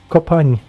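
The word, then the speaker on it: Kopányi: Just help me pronounce his last name. Kopanyi.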